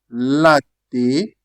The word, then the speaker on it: latte: You still drag your tongue because we have double t that is milk. Latte.